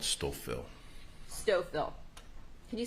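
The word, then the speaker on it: Stouffville: the outskirts of Toronto in an area called stoil stoil can you spell it please oh s t o u f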